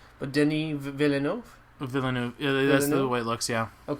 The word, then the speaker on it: Villeneuve: But Denis Villeneuve?